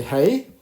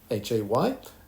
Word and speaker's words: hay: And remember when you read I, we don't say hey. If we need to, put our finger just below our eye, not in our eye, because it's exactly the same pronunciation in English. The English I is the same pronunciation as the Spanish Hay, I, and it means there are.